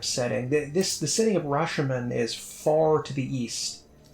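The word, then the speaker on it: Rashemen: the Forgotten Realms uh land of Rashon or rashan not Rashon that's a that's a movie rashan I think is how it's pronounced and this has a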